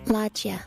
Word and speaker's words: loggia: Here's the pronunciation. Loggia.